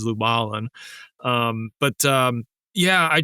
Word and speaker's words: Lubalin: later discovered that he they pronounce it lubalin so that's what that's my little differentiators I'm luin and he's lubalin um but um yeah